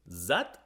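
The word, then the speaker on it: rất: It's actually a z sound. So a word that looks like rat is pronounced zat.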